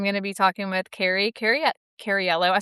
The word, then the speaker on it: Cariello: to be talking with Cariello. I say it wrong every time. No, you don't. You say it perfectly. Cariello. Cariello. It's got an extra syllable that I don't think it has, but it does.